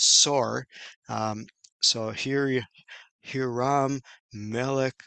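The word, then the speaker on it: צֹר: And of course, the word in Hebrew is pronounced Sor. Um, so here Hiram, Melech of Sor, and he sent messengers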